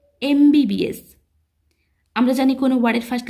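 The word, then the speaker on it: MBBS: এম এর উচ্চারণটা হচ্ছে ভাওয়েলের মতো, এ সাউন্ড আসতেছে, এমবিবিএস।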